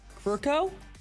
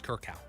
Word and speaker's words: Krukow: Longtime Giants announcer, broadcaster, and pitcher, Mike Krukow? No, absolutely not. Krukow? Absolutely not. How do you say it? I think it's Kirkow, but Really, the R is in front.